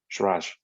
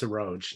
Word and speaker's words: Saroj: Shiraj. Thanks. Oh, and Quincy, just, you know, my name's pronounced Saroj. No, Saroj.